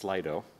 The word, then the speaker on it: Slido: And we're going to bounce directly to, once again, it's pronounced Slido, to Aaron, who's going to kick it off with some distinction between hype and reality.